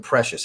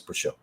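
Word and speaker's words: Précieux: They keep saying precious. It's not spelled like that. Is it really supposed to be precious? It looks nothing like it. It looks like Precieux. I'm from South Louisiana. That's Precieux. Anyways, whether it's precious or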